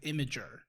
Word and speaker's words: Imgur: So I always called it Imgur. Brandon and I always called it Imgur. Jordan calls it Imager. Okay. And Imager feels right. Yeah. But I still to myself call it Imgur.